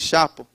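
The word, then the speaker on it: Xapo: Tem essa empresa que eu gosto muito, chama Zapo, ela se escreve com X, Chapo.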